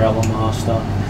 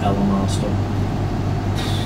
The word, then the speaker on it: Elemaster: She says she follows Air Elemaster and the Queen of Darkness.